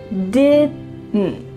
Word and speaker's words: didn't: When native speakers are speaking quickly, we do not say didn't with each sound pronounced. Instead, you're gonna hear didn't. There's a lot going on here in your throat.